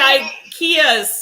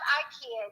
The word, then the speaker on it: IKEA: No, you're used to IKEA's Swedish meatballs, so Yeah. Well, it's not IKEA, it's IKEA. yeah, okay. We all say it wrong, but Right.